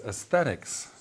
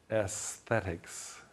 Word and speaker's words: aesthetics: Another word that's very similar, that's a little more difficult, is aesthetics. Notice the spelling, And then here's the hard part, the sound of the S and the TH immediately. Aesthetics.